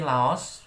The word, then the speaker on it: Laos: Ini Laos, BTW cara bacanya itu Lao.